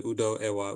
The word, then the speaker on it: Udoewa: So it's Udo, and Ewa, and you just put them together, Udoewa, Udoewa. When we Udoewa. say it, though, the O and the E become one syllable.